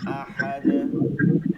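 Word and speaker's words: أَحَد: পড়তে হবে কুফুয়ান কুফুয়ান আহাদ কুফুয়ান আহাদ কুফুয়ান আহাদ আহাদ এরকম টানা যাবে না আহাদ আহাদ কুফুয়ান আহাদ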